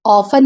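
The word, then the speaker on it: often: यहां पे ऑफन में टी साइलेंट होता है। इसलिए हम लोग इसको ऑफर नहीं पढ़ते हैं बल्कि हम लोग ऑफन पढ़ते हैं।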